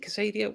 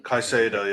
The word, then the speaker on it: Caicedo: Sean Bork says, Jacob Ramsey, is it Casado? Caicedo, yeah. Caicedo, I always pronounce it wrong.